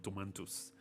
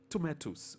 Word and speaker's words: tomato: I'm going to buy some tomatoes. But there's no N in that word. There's no N in that word. Tomato. Tomato. Or in the plural form, tomatoes. Remember, the word is tomato for singular, tomatoes for plural.